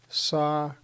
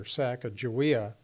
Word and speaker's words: Sacagawea: And her name is pronounced here Sacagawea. So that may be the correct pronunciation. I know growing up in Montana, we called her Sacagawea.